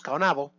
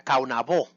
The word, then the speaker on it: Caonabó: él en unos minutos, Caonabo, como le decíamos antes, hoy en día ya hemos aprendido que el nombre real pronunciado correctamente era Caonabó, con el acento en la O.